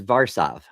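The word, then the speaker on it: Warszawa: The name of the city is Varsav because the W's are actually V.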